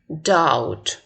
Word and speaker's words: doubt: В последнем слове doubt, сомнение, B не читается, да? Ну, надеюсь, это помним.